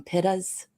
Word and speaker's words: pitta: that we call them pittas, pain in the ass clients. When we have a pitta, that's our name for it, not pita. It's spelled like pita, but it's not bread.